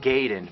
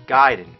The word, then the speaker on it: Gaiden: We're talking Ninja Gaiden. Everyone always said Ninja Gaiden, but I know for a fact it's Gaiden.